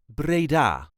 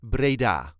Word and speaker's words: Breda: brabant and is called braa this is the way us duchies say Brea Brea there is a light emphasis on the last syllable Brea Brea all the